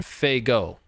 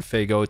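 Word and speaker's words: Fagot: it's it's spelled up it's spelled f-a-g-o-t pronounced faygo if i understand correctly 9k 111.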